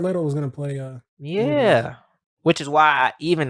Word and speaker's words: Morbius: Like how are you gonna make that appealing to Did you say Morpheus? Yeah. His name is Morbius.